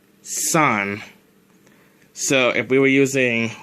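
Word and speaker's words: 三: how 3 is pronounced 3 is pronounced son so if we were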